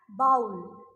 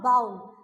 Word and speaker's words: bowl: See children, many of the students have this habit of pronouncing this word as bowl. It's not bowl, it's bowl.